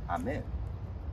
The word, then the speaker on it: Amin: Well, my last name is Amin, and you pronounce it Amin.